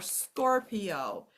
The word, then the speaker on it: Scorpio: the letter I and I followed by a vowel is usually not part of a vowel team and it says e okay so we can see it in a word like Studio or Scorpio we can then um